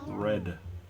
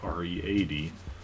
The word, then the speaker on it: read: Red. R-E-D. Not to be confused with R-E-A-D, which is also pronounced red, but you can also pronounce read, I suppose.